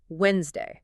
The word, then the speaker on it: Wednesday: Croc out the D in Wednesday.